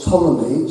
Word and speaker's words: Ptolemy: The year 64 BC, a scientist called Ptolemy, spelled with a P, who was a Greek